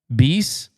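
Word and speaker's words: Béis: Uh Beast, that's how you pronounce that.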